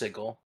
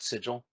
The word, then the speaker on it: sigil: out of the bushes it's pronounced sigle not sigil English is a living